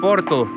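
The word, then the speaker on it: Portu: И, кстати, Порто - это французское название. По корсикански это пишется и читается как Порту.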